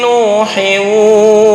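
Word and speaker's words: نوحٍ: Kalau diteruskan berarti Nuh hanya 2 harokat, nggak boleh lebih. Kecuali wakof. Mim ba'di qaumi Nuh. Nah, kalau wakof. Tapi ketika lanjut jangan ikut-ikutan panjang. Mim ba'di qaumi Nuhin wa zadakum.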